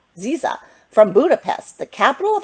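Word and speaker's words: Szia: Now, this is how you say hello in Hungarian. It says Ziza. Did you know that? Ziza.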